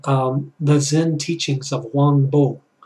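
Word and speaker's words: Huang Po: of my favorites called The Zen Teachings of Wang Bo, spelt Wang Po, but it's pronounced Wang Bo.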